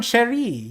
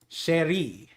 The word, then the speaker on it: chéri: It is like in French, it is pronounced with an SH. Chéri.